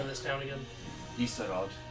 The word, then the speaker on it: Isarod: Isarod. I-S-A-R-O-D. That's helpful. Isarod. Yes, it is. Is a rod. This town is a rod.